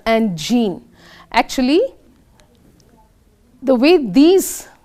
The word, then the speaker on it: Jean: If any of you are pronouncing it as Pierre, it is pronounced as Pierre, and this sometimes pronounced as Jean, sometimes pronounced as Jean.